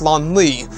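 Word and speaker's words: Lonli: know a lot of people are going to make the mistake of thinking that his first name is lonely but it's actually spelled l-o-n-l-i and the last name is spelled k-e-r-a-l-e salon lee carrell so also known as the dark prince or just prince lon lee now this actual character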